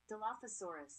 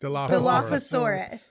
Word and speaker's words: Dilophosaurus: Philosophosaurus. Dilophosaurus.